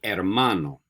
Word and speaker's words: hermano: Moving on to el hermano. What do you think el hermano means? Brother, right. Remember, in Spanish, no H's. Don't pronounce the H. So we say el hermano, el hermano, el hermano.